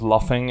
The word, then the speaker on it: luffing: Okay, so it's pronounced luffing. I just figured it out. I just assumed that it would kind of be the same as Luffy.